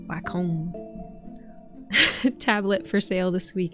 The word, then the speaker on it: Wacom: oh, how do you pronounce that? Wacom? Wacom.